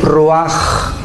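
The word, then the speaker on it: רוח: Y exhaló Isaac el ruaj, que se tradujo espíritu y se escribe ruach.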